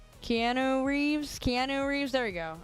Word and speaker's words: Keanu Reeves: Yeah, I think that's how Canoe Reeves. Keanu Reeves.